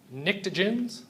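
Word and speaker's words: pnictogens: group 15 is the nicens the p is silent you ready on three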